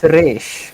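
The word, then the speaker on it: Ra's: He's just no one can pronounce it. But it's Raish.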